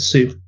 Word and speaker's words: Sioux: Bauer wrote, the problem with Costner's approach is that all of the Sioux are, that's how you say it, Sioux.